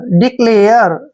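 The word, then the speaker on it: declare: ए आर ई देखिए डी का उच्चारण ड करते हैं ई को छोटी ई की मात्रा पढ़ते हैं सी का उच्चारण हम यहां पर आधा क करेंगे क्योंकि सी के बाद जब भी कोई कंसोनेंट आता है तो सी को हम क पढ़ते हैं ठीक है और एल ए को देखिए एल का उच्चारण ल करेंगे और ए आर ई को एर पढ़े एयर ऐसे एयर डिक्लेयर डिक्लेयर डिक्लेयर होता है घोषित करना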